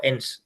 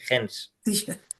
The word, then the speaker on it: Hens: Eh, yo digo la h muda, yo digo en, pero bueno, hay gente que dice hens, es h n s.